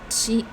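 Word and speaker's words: 七: It's chi. Okay, 7. The way my mom says 7 in Taishanese is ti. Cantonese is bat. No, chi.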